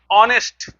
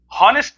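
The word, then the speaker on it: honest: इसी तरह से ऑनेस्ट, हॉनेस्ट नहीं कहते हैं तो एन ऑनेस्ट मैन कहेंगे।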